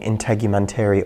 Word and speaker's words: integumentary: Get my integumentary oils on your computer. Integumentary, that's a big word. Integumentary. Rhymes with documentary. And elementary.